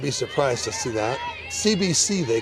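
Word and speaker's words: Tse: of course and her after The Hyphen of her surname is t-s-e pronounced C so the teaming teammates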